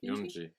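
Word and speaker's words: Eunji: Yuni or Nji Yunji.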